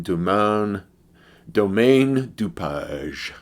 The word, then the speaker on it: Domaine DuPage: So what I have in my hand here is a beer called Domaine DuPage. Or if you go with the French pronunciation, Domaine DuPage.